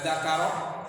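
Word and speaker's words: ذَكَر: zakahnya itu ya e zakar jangan dibaca zikrun pak man masa zikrun karena beda beda maknanya nanti.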